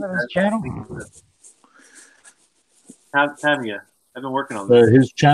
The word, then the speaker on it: Tamiya: He gave me a lecture on how to pronounce Tamiya.